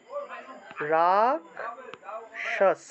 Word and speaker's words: রাক্ষস: সংস্কৃত উচ্চারণটা কি হবে এই খেয় থাকলে উচ্চারণটা হবে ক যোগ মূর্ধন্য ভেঙে যাবে তাহলে উচ্চারণটা হবে এইভাবে রাক্ষস আপনারা নিজেরা একটু বলবেন ঠিক